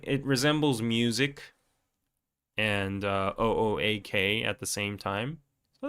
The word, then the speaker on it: OOAK: It doesn't sound like okay. It sounds like because it's o AK. It's like okay. Okay. Okay. Something like that with an accent. And people who don't know might pronounce it as like Oak. Oak. Professor Oak from Pokemon.